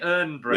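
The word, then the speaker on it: Irn-Bru: I love the fact how they spell it as well, because they can't spell it the original way because it'll be done for IRN, isn't it? Earn Brew.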